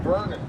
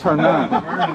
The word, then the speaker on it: Hernan: We called him Vernon. No, it's Hernan. It's you guys.